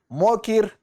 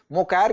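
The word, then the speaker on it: Mokyr: यहाँ विजेताओं के नाम देख सकते हैं, प्रोनाउंसिएशन का फर्क हो सकता है। तो देखिए, जोएल मोकायर कह लीजिए, मोकिर कह लीजिए, फिलिप एगियन कह लीजिए और पीटर हाविट कह लीजिए, इन लोगों को यह पुरस्कार दिया गया है।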